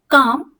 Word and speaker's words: calm: Leaf, calm, pale, jail, palm, hall, clean, calf, shelf, chalk, talk, silk, balm, plum, self. तो आपने सुना होगा काम में एल साइलेंट है, एल की साउंड नहीं आई है.